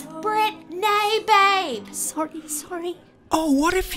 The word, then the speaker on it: Brit-Nay: I'm Brit-Nay. Make sure you pronounce it right or we actually cannot be friends. I'm only joking, but seriously, it is Brit-Nay with a hyphen.